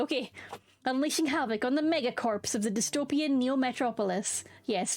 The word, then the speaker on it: megacorps: Yeah, I think if it's corpse in an army sense, the P is silent and it's just core. But in corporation, you still pronounce the P.